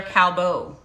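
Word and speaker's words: Callebaut: thank you hood brad autumn okay um they're cowbo and it's spelled c-a-l-l-e-b-e-a-u-t it's in my amazon like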